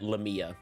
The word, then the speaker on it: Lamia: hit on blade master lamia I'm going to start pronouncing it lamia like Tamia but with an L instead of a t you're talking about the